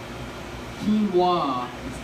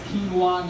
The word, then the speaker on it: quinoa: Quinoa, it's quinoa, not quinoa. It's acai, not acai.